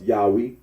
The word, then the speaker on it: Yahweh: also yahwe and yahovah the scholarly consensus that the original pronunciation of the Tet gron was Yahweh R arino agrees that